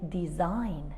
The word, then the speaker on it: design: in all these words letter g is silent is not pronounced we say resign we don't say resign we say design we don't say design